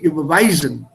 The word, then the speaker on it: überweisen: so from a pronunciation point of view, it should be überweisen.